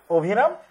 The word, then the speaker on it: অভিরাম: তাহলে সেটা হচ্ছে অভিরাম, উচ্চারণ কিন্তু এরকম অভিরাম।